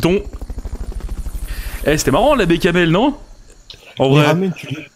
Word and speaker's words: béchamel: Ça se prononce bécamel.